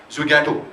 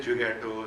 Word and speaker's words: Zwigato: Zwigato, what do we say?